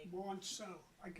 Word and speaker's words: Monso: Monso.